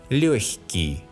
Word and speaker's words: легкий: When the sound к is soft, the letter г specifies a soft sound х. Мягкий, легкий. Although some Russians pronounce a hard sound х here, мягкий, легкий.